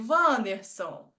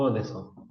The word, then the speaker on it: Anderson: Escolher um homem agora, hein, Vanderson, para não sei seu nome correto. Tudo bem, Vanderson? Boa noite. Tudo bem? Tudo bem. Pronunciou. É o Anderson.